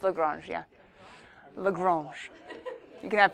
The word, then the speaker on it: Lagrange: It's Lagrange, yeah.